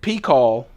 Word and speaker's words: P'Kal: friends is the knife of the day I pronounced it P call P apasa fee k al it is used